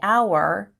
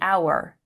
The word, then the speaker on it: hour: However, we would say the hour because the h in hour is silent and it begins with a vowel sound, ow. So we say the hour.